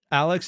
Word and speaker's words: RX: Also, I'm being told by Angel, Alex is the pronunciation of how Japanese speak the pronunciation of RX.